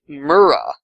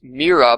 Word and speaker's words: Myrrha: And I originally thought it was pronounced Mira, but because it has an H in it, but it's actually spelled with an H because it's spelled like the word myrrh, like as in the anointment that you give to dead bodies, like the fragrant aroma.